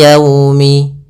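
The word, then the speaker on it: يومِ: namakan dengan bacaan Lin dalam pelafalannya harus lembut liumi agar menyempurnakan makhraj huruf wau kita agak monyongkan bibir kita ni yaumi ya dilembutkan yaumi Kemudian pada hafal Yaumil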